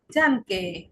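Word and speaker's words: danke: যেমন এখানে রয়েছে ডানকে। ডানকে মানে ধন্যবাদ। এই যে ডানকে কেন হলো? ডি এর পরে এ, এর উচ্চারণ হবে আ এর মতো, ডি এর সাথে আ, ডা, ডানকে।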